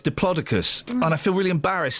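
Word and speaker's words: Diplodocus: And the big diploicus turns out it's not pronounced diploidocus as I was told in the 70s. That's what I thought it was. Yeah, I know. It's diplocicus.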